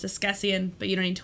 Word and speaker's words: Askesienne: This is pronounced Escessian, but you don't need to worry about that.